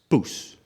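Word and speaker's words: poes: so it's spelled p-o-e-s p-o-e-s okay it's just pronounced puss puss puss okay it's like papoosa and i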